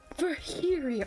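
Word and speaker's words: Virgilio: It's pronounced Verio. Oh, thank you for correcting me. Your G the G is silent.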